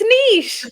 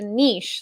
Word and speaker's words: niche: like it's pronounced a niche like it's not you guys yeah just remember quiche food that's how that's how i we'll